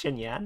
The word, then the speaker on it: Xinyan: Okay, X in Chinese is a CH sound, right?